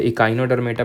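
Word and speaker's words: Echinodermata: एचिनोडर्मेटा, एचिनो, चिनचिनाहट हो रही है, वैसे इकाइनोडर्मेटा प्रोनाउंस करते हैं, लेकिन हमें प्रोनाउंसिएशन करने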